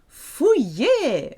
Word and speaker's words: fouiller: Fouiller, fouille. If you take off the first and the last letter, you've got the sound ouille. Ouille. You've got the OU, ouille, ouille. Ouille. It's a very French sound.